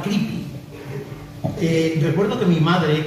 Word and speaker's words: Creepy: Eh, finalmente vimos que era una revista americana y que se pronunciaba creepy.